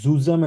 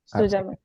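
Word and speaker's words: zusammen: বিয়ার জুজামেন previously হচ্ছে আমরা রশ্নি আপু এখানে জুজামেন আমরা বলবো না এ ওয়ানে আমি আপনাদেরকে বলেছিলাম হয়তো মনে আছে জেড কে এস এর মত উচ্চারণ করব ঠিক আছে জেড ইকুয়াল টু এস জি ভাইয়া সুজামেন এস ইকুয়াল টু জেড মনে রাখতে হবে সবসময়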